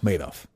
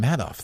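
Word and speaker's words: Madoff: Uh Maidoff. Maid off. Yeah. Made off with your money. Why'd you call him Matt Off though?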